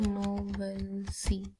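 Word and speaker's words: knowlesi: पढ़ते हैं ठीक है मैं लिख देती हूं नोवल स ऐसे इसको प्रोनाउंस ऐसे करते हैं नोवल स तो क्या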